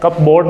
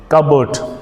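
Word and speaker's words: cupboard: फिलहाल आप देखें, फर्स्ट वाला जो वर्ड है, ये दिखने में दिख रहा है कप बोर्ड, लेकिन इसको कहते हैं कबर्ड। इसको, ये वाला जो वर्ड है, इसका प्रोनाउंसिएशन है, लेट me take a different colour, कबर्ड।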